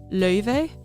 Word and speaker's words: Laufey: True, like, clean Icelandic, it's pronounced Laufey.